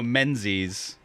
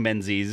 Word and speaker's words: Menzies: yeah that's why yeah john menzies is pronounced john mingus there you go have